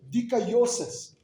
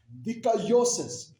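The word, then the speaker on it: δικαίωσις: And that word justification is the Greek word G1347 and you pronounce it deosis. Decayosis.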